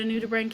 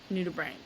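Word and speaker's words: nudibranch: lot of people do it's spelled Nu d i b r a n c h nud Brank and there's like a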